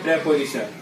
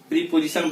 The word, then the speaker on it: preposition: ठीक है, सो parts of speech का अगला जो पार्ट है वो है प्रेपोजिशन। इसका प्रोनाउंसिएशन को हम लोग जरा सा देखेंगे। बहुत सारे लोग इसको प्रीपोजिशन बोलते हैं, लेकिन वो ना होके प्रेपोजिशन बोलते हैं।